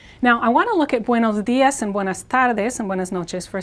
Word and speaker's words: tardes: Now, we have a trilled R here because it ends the syllable, and then the D here is sort of like, this is sort of like the word they with an S at the end, this.